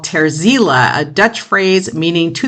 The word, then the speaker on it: Terziele: Ter Ziele, and it's spelled Terziele, and I'm going to play the track for you, This Mortal Coil.